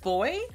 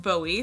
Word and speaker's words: Bowie: first use this palette I'm like boy but it's actually pronounced Bowie so I'm gonna go